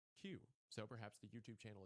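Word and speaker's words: 九: And the number 9 in Japanese is pronounced Q.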